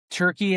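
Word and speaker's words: Türkiye: Turkey is the uh the approved uh pronunciation as of a couple years ago. T U R K I Y E.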